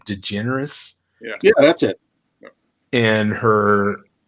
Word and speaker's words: DeGeneres: word they're from Amazon and it's Alan and G generates and Adi hi Kennedy say her name DeGeneres yeah that's it and her partner there and